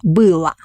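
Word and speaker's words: было: we add ending la we write o but pronounce la billah and for plural for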